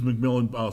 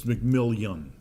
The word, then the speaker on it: McMillian: McMillan, state your name, address, and occupation and spell for the record. It's McMillian. I'm sorry, I said it wrong.